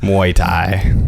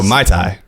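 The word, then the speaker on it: Mai Tai: did you drink it Muay Thai is that how you pronounced Muay Thai yeah no My Thai someone hits you that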